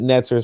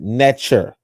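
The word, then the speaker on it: netjer: Some pronounce it netter, some pronounce it nature, right?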